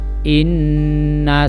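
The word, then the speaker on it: إنّ: Inna sa'yakum lasyatta. Inna sa'yakum lasyatta. Inna sa'yakum lasyatta. Nah, di situ ada contoh bacaan gunnah lagi, yaitu kalimat inna dibaca dengung.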